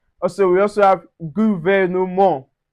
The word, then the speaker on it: gouvernement: Also we also have gouvernement. Gouvernement, we don't pronounce the T.